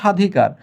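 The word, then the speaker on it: স্বাধিকার: এটা কিন্তু স এর সঙ্গে ব আছে কিন্তু উচ্চারণ করছো সাধিকার। তাহলে এখানে উচ্চারণে ব টা কোথায়?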